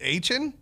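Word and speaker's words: Achane: He was on here with Bronny, and he said it's A-Chain, and now it's A-Chain.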